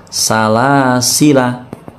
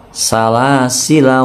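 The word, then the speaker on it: سلاسلا: la di sini pendek pokoknya kalau ada lingkaran kecil dibaca pendek salasila dibaca salasila salasila WA aglal WA sa'iro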